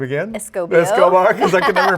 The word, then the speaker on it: Escobar: Escobar, because I can never pronounce it.